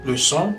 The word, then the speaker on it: leçon: The cedilla appears under the letter C and changes the pronunciation from a hard K sound to a soft S sound. So we'd say façon, way, garçon for boy, leçon for lesson.